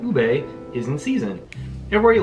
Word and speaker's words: ube: It is ube. Ube. So next, let's visit mountainous. Good lord, everything. I can't pronounce anything.